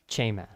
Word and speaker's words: chema: Chema. Chema. And it's chema. Chema. Chema. Chema. But the emphasis is always on the first syllable, so chema.